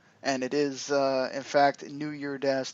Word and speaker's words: New Year Dash: And it is, in fact, New Year Dash, there is no S.